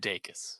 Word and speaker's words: Dacus: I looked up an interview she did, and she said Dacus, so I Uh, think that's right. I'm gonna trust Lucy Dacus on pronouncing her name correctly.